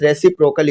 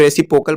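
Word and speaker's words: reciprocal: ठीक है, रेसिप्रोकल, रेसिप्रोकल, कुछ लोग रेसिप्रोकल पढ़ रहे होते हैं, ये रेसिप्रोकल होता है क्योंकि इसमें आर भी है ना, तो आर भी पढ़िएगा।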